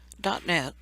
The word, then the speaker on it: .NET: .NET, pronounced .NET, framework is a platform made to develop applications.